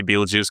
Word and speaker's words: Betelgeuse: one night, I pointed out the actual star Betelgeuse, which is not pronounced Betelgeuse. Am I correct on that? How is it officially pronounced? How fancy you are. I know plenty of astronomers who just say Betelgeuse because they don't want to sound kind of